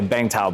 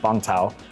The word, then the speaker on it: Bangtao: kind of said, you know, bangta, people say bangta, but it's actually pronounced bangta.